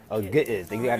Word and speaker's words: Ge'ez: Ge'ez. They say you got to pronounce it Ge'ez.